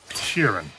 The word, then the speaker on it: Sheeran: Sheeran.